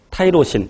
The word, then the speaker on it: 타이로신: 그런데 극성인 것도 있고 무극성인 것도 있고, 그래서 극성인 것에 타이로신 또는 티로신이라고 발음하죠.